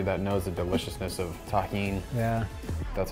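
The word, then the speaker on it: Tajín: out to everybody that knows the deliciousness of Tajin yeah that's how you pronounce this yeah and delicious with the addition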